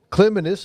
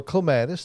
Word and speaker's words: clematis: plant one in the wrong spot know what Clement is or clematis to hire you prefer to pronounce it I think both are recognized is